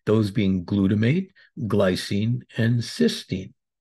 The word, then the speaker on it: cysteine: In this discussion, we'll look at the most popular ways: oral glutathione, cysteine, cystine. Please note the difference in both spelling and pronunciation.